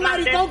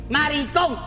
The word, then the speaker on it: maricón: Maricón. Con acento en la O.